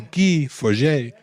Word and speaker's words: Guy Forget: language if you can turn guy forget into ghee forget so so anyway our main main character is